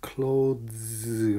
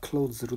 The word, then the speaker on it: clothes: 그래서 clothes 하면서 z까지 발음해서 d 하면서 z를 같이 해서 clothes. 그런데 빨리빨리 하면 다 close로 들려요. close.